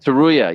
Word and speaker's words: Tsuruya: Joshua Van versus Rei Tsuruya. I'm probably butchering that. Am I butchering that? Can I get a backup? Tsuruya? Tsuruya. Yes.